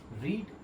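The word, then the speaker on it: read: ध्यान रखना है कि फर्स्ट फॉर्म को रीड पढ़ेंगे सेकंड फॉर्म को रेट पढ़ेंगे थर्ड फॉर्म को भी रेड पेंगे ठीक है तो आई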